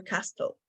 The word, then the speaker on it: castle: I was like, to Bangor Castle. Castle. Do you guys, why do you have a letter T in Castle? It's not going to sound.